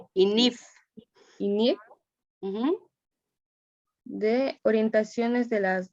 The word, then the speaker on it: INIF: Interpretaciones de las NIF o INFI, así se pronuncia. INIF.